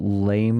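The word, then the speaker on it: lamé: The Ian lame is silent. Lame. It's a French word.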